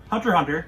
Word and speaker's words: Hunter x Hunter: Hunter x Hunter, if you pronounce the X, I'll gut you like a fishy, is a show that goes all over the place.